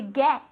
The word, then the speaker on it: get: To get. To get. ¿Vale? Esa G es G. ¿Vale? To get. Y quiero escuchar esa T final.